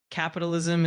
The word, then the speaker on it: capitalism: Capitalism is said as capitalism with the emphasis on the second syllable.